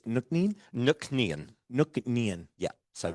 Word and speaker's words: Nc'nean: So it was like, so it was shortened to NC'Nean.